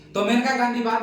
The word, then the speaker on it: मेनका गांधी: बाद खगा मेनका गांधी देखो मेनका गांधी कहीं कहीं लेकिन यह पंजाब से थे ना इसीलिए वहा के भाषा में इसको लिखते है मानेका मानेका मानेका ी उच्चारण में थोड़ा बहुत का अंतर क्या है मानेका गांधी मानेका गांधी